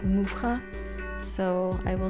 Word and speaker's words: Mucha: the art by alphonse mucha I think that's how you pronounce it I always thought it was Mucha bits I saw a video on YouTube where his grandson pronounces that mukha so I will say